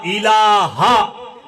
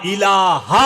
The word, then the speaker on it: ইলাহা: একটু খেয়াল করেন জিকিরটা কিভাবে করবেন কি বলতেছেন লা মানে নাই লা শব্দের অর্থ নাই ইলাহা উচ্চারণটা কি হবে লা ইলাহা ইল্লাল্লাহ লা ইলাহা এই হা ধাক্কা হবে লা ইলাহা ইল্লাল্লাহ এইভাবে হা এইখানে যা লা মানে নাই ইলা মানে নেতাকর্তা অধিকারী।